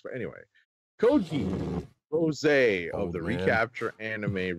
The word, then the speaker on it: Code Geass: This is pronounced code geese, right? I believe that is the case, yes. Okay. Why don't they just spell it as geese? Like the plural of goose. But anyway, code geese.